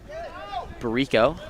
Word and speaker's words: Bricko: Bricko earns the ordinary. Barico, I believe is the correct way to say it from hearing Coach Bowen.